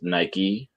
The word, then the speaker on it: Nike: be boxing them yeah my mom's name uh is nike like the greek god or the shoe but for some reason people couldn't understand that we call her nike yeah or mike okay